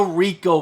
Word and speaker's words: R1C0: Spider-Gwen, Gwenverse #5, the Rico variant. At least that's how I think you say his name. It's R1C0, and I think it's going to be Rico. It's just a cool way to spell it.